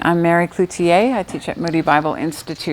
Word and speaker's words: Cloutier: Mary Cloutier. Am I saying that right? Yes. It's a very French name.